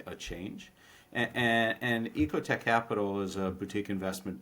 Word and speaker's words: EcoTech: and uh, also is is it Ecote Tech or Echo Tech? Ecote Tech. Am I saying it right?